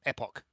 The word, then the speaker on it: Epoch: Epic as in time, epoch, however you want to pronounce it. Last epoch. Which is Epoch. Just lean on the E. Epoch.